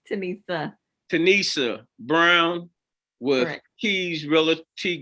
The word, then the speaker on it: Tenesia: of our real estate businesses on board with tanisha brown give me the correct pronunciation yeah it's okay it's tanissa tanissa brown with keys reality group and uh